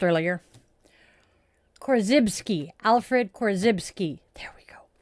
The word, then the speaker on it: Korzybski: I had it pronounced earlier. Korzybski.